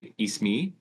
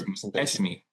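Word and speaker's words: اسمي: But it would get pronounced like if I said my name, I would say Ismi. Ismi. I just changed it. I think the E is per Esmi.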